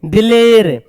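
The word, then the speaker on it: دلیر: शेर इसको बो शेर दलील नहीं पढ़ेंगे दिलेर ए पढ़ेंगे दिर नहीं दिलेर देर पढ़ेंगे दीर नहीं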